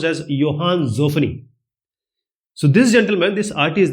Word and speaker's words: Johann Zoffany: His name was, it's Johann Zoffany, but it's pronounced as Johann Zoffany.